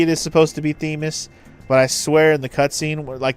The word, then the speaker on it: Themis: little That's pronounced Theis after the Greek goddess of law.